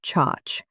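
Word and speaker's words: CHoCH: This can include a break of structure, often abbreviated as Bos, or a change of character, pronounced chach, like it rhymes with watch.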